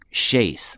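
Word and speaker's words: Sheth: actually should be pronounced sheath sheath with a with a long a even though it looks like s-h-e-t doesn't look like it should be uh pronounced that way but this is strong's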